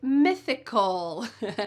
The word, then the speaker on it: mythical: The next tricky pair is musical and mythical. Don't forget the TH in that second word. Musical, and mythical. Mythical. Again, my tongue is coming between my teeth here to make that TH sound.